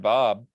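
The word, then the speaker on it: B'aahb: Bob in the Legends Look Back Discord if you would like to take a look at him.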